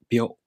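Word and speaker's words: びょ: To pronounce byo, the tongue moves from the b sound to the o vowel. Byo.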